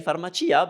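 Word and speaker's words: farmacia: you that accept it yes usually we pronounce CIA as cha but if you come across a word and you are positive that it's Chia then that's how it is just say pharmacea because you would be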